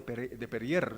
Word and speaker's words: Perrier: normal, sino agua de Perrier. Está bien pronunciado Perrier, sí.